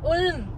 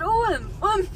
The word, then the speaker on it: Ulm: Ulm. No, not Ulm. It sounds the same. No, you kind of stretch the U.